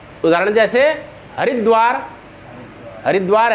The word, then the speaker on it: हरिद्वार: तो उच्चारण क्या होगा, हरिद्वार, ये गलत है, हरिद्वार, हरद्वार, कोटद्वार, च्यवनप्राश, है ना, ऐसे उच्चारण होगा।